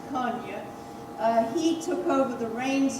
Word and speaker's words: Kony: Now, she eventually faded out in 1988, and her cousin or relative, Joseph Konya, that's spelled K-O-N-Y, but it's actually pronounced Konya, he took over the